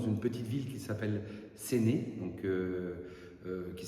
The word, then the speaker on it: Séné: Nous sommes dans une petite ville qui s'appelle Séné. Donc euh euh qui s'écrit S E N E mais vous pouvez écrire S E N E.